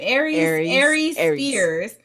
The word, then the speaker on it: Aries Spears: Aries Spears.